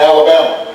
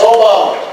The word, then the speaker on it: Obama: funny name Barack Obama although people wouldn't say it right and they would call me Alabama or they would call me your mama and I had to they did I just play it's Obama and I I tell